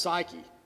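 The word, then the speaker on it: ψυχή: life there is different it's the word is pronounced psyche of course we all know what that means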